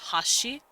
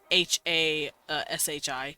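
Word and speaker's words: はし: I know there's a word in Japanese called Hashi h-a-s-h-i or in their written language just ha she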